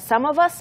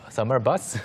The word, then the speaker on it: some of us: 이 손짓이 없었다면 발음상으로는 조금은 듣기 어려웠을 수도 있어요. summer bus? Summer bus? Oh, 아니고 okay. Some of us. 네, some of us.